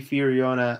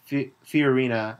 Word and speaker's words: Fiorina: there of course Carly fona oh sorry I mispronounced that Carly fiorina uh is gaining a